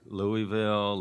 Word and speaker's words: Louisville: I was like okay how do you say it right is it Louisville Louisville its Louisville so okay so it's Lou Lou bull Louisville that's not bad